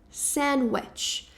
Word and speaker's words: sandwich: A primeira delas é que esse D não é pronunciado, então fica meio que um sen, sen aí sen. Depois esse w ele vai ter um som bem aproximado a palavra bruxa em inglês, que é wet.